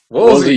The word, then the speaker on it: Woolsey: Woolsey, you got it the second time around. There's something about the phonetics of the last name that people want to put the S before the L.